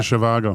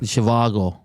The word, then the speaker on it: Zhivago: Zhivago. Zhivago.